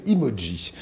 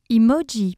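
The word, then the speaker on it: Imodji: Emoji pour tes cuisines. Emoji, mot d'origine japonaise qui veut dire émoticône. Chicissime, fashion. On l'écrit comme ça se prononce. I-M-O-D-J-I pour faire simple.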